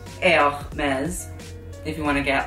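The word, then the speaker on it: Hermès: But James Charles, you are saying Hermes wrong, and it's Hermes.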